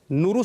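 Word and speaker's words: Nauru: आपने जब बोला नौरू, जिसने बोला नौरू नहीं नौरू, देश का इतना सही प्रोनाउंसिएशन।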